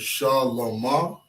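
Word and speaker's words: שלמה: Okay, how we pronounce that is Shalama. Shalama is how you say Solomon.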